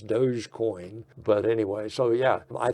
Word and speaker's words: Dogecoin: And now it looks like Elon is touting doggy coin is what I call it. I think the correct pronunciation is Dogecoin.